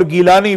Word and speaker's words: گیلانی: اس کی نسبت سے آپ کو جیلانی عربی تلفظ میں اور گیلانی فارسی تلفظ میں آپ کو کہا جاتا ہے۔ تو یہ حضرت